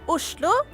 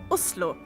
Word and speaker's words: Oslo: In Norwegian, it's pronounced, Oslo. or if you're posh, Oslo.